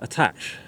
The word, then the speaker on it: Attache: as well uh but there's no accent over the E I've heard the petel